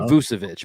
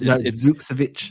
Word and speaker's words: Vukcevic: It's not quite Vucevic, but it's Vukcevic.